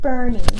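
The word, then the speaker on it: Boerne: This one is pronounced Bernie and Green.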